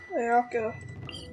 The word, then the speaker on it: Ayaka: I have to go back to Ayaka. Yeah, that's how you pronounce her name.